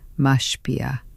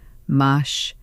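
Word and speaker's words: משפיע: The word is mashpia. Say it with me once, slowly. Mash-pi-ah. 3 syllables, the accent on the second, mashpia.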